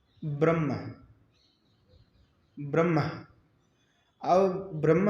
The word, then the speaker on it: ब्रह्म: तो म पहले आ गया, ह बाद में चला गया। उच्चारण के समय क्या हुआ, हम ये नहीं कहते ब्रह्म, नहीं कहते ना, ब्रह्म नहीं कहते, हम कहते ब्रह्म।